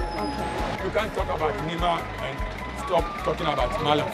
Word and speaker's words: Nima: It's not Nima, it's Nima. Nima? Yes. Okay. But some of the people, they can't pronounce it, and they say Nima.